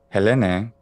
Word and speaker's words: Helene: or is there anything else to this name helene this one i love because the history behind